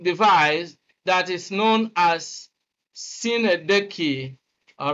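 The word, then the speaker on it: synecdoche: The first line gives us a poetic device that is known as Sinedeki, all right? Although some people might try to argue Sinedeki. Of course, some students mispronounce this as Sinodoche.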